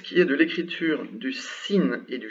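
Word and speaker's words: سين: La première s'appelle Sin, Sin, et elle se prononce S, tout simplement.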